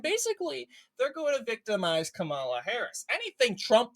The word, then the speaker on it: Kamala: I didn't really think it mattered, but apparently, according to MSNBC, it's racist to say Kamala. That's not how you say her name. It's pronounced Kamala.